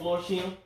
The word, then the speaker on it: Florsheim: Yep, Florsheim.